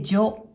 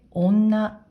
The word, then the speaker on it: 女: これは音読みで女、女。訓読みで女、女と読みます。